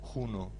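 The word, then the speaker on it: hunos: cuando durante el periodo un o juno como es en realidad la pronunciación junos de Atila el chamanismo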